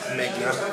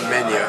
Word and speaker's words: Megna: My name is Megna, sometimes pronounced Mena. If you're Italian, you pronounce it Mena, otherwise it's Megna.